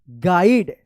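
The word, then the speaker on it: guide: I also gov हिम a small गाइड जी यू आई डी ई गाइड पढ़ेंगे यहां पे you silent रहेगा book and अ पढ़िए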